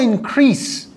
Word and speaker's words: increase: ببینید دوستان، تلفظ اسم و فعل این واژه فرق داره. اول اینکه increase نیستش، هر دوتا اسم و فعل سه هست. اسمش میشه increase، فعلش میشه increase، استرسش فرق داره.